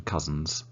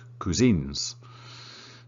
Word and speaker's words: cousins: with his cousins cousins noticed pronunciation cousins not cuisines number 14 where does